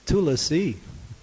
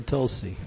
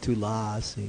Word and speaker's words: Tulsi: or maybe three lassies it's Tula C or Tulsi it's not too lossy we say that all